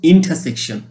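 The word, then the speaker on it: intersection: ইন্টারসেকশন আমরা এটাকে বলতে পারি ইন্টারসেকশন। নো, আমরা সঠিক উচ্চারণ প্রনাউন্সিয়েশন করব ইন্টারসেকশন।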